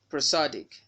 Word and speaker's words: prosodic: The first syllable of this word should be pr and not pro. If you pronounce it as pro, you're putting a stress mark on it and it's wrong.